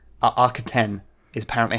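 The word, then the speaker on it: Arquitens: the architect architect class uh i keep saying aquatans uh archeten is apparently how it's supposed to be pronounced i'll just talk about the s in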